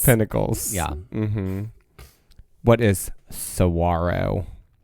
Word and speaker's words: Saguaro: What is Saguaro? Correct. So in this category, all the answers had a silent G, but there was you had W alliteration. W alliteration because it is a W sound. Right. Saguaro.